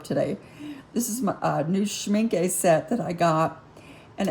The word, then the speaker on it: Schmincke: It's from Schmincke, is how they say to pronounce it in their paperwork, Schmincke.